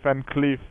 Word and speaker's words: Van Cleef: It is definitely Van Cleef. It's double E and it's pronounced. Yeah, Van Cleef. Yeah.